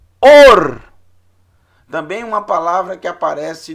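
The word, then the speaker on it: אור: Or. Or. O Aleph, ele não tem som. Qual o sinal massorético associado ao Aleph? É o Rolen Vav, som de O.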